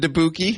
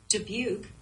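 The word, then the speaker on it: Dubuque: to be wait your GPS pronounced it deuki yeah I was passing through because we were coming like through Chicago and debuk was like the first big thing I think for a while and it said deuk and I thought that was wild maybe we've been mispronouncing it the entire time Julian deuki oh my Siri says it right here hang on debuk she knows it do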